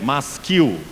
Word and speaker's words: masquil: na parte superior, de masquil. Você vai ver aí talvez uma tradução para o português, M-A-S-Q-U-I-L, masquil. A palavra hebraica, a pronúncia dela é masquil, que simplesmente significa salmo didático.